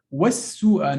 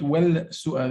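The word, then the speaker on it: وَالسُّوءَ: Was-su'a, not well-su'a. We don't pronounce the lam, right?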